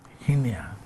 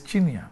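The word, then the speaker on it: Chinnia: Here's the Honorable Hinia. Chinia. Honorable, good morning. Good morning. So it's Chinia. It's Chinia. It's spelled with a C?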